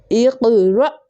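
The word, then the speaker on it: اقرأ: सो और हमजा साकिना को हमेशा झटका देकर पढ़ते हैं. We have to pronounce always with jerking sound when you see Hamza साकिना. इक़रा इक़रा इक़रा.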